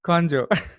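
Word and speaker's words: ቆንጆ: It's like, was it like conjo, conjo, anti conjo? You know that? Is that I'm saying that right? Yeah, you're saying it right.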